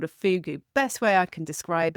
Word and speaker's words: fogou: on the land there was something called a fogou. And it only exists in Cornwall, a fogou.